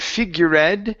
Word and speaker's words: figured: Instead of figured, this E is silent. Figured. Figured. Not figured. The E is silent. It's figured.